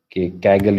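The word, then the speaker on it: Kaggle: the link of that keigle it is called kagle you can pronounce it or something like this I have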